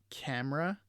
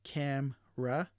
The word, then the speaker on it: camera: So we camera instead of camera, chocolate versus chocolate, aspirin instead of aspirin, and we have restaurant instead of restaurant.